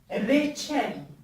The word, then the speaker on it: reçel: Ré, comme exemple, reçel, qui veut dire confiture. Alors ici, on ne prononce pas ré, mais bien ré. Le R roulé comme on dit en français. Ré, mais pas le ré.